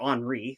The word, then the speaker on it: Henri: It was actually devised by one of his friends, Henri Didon, or Henri. Sorry, he's French.